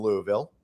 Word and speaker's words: Louisville: Louisville. You got to kind of like have a little marble mouth.